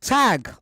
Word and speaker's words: Tadhg: tag. Have I pronounced your name properly? Yeah, beautifully.